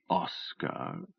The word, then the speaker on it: Oscar: "Oscar," she repeated, broadening the O into aw and stressing both syllables.